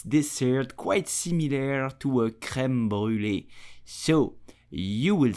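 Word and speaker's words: crème brûlée: sure you know it so how do you pronounce it in French correctly you would say creme brulee did you know that the earliest known recipe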